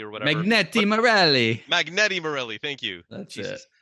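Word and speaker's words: Magneti Marelli: megani Morelli or I can't I can never pronounce it but um oh Magneto Morelli or whatever magneti Morelli magneti Morelli thank you Jesus um but they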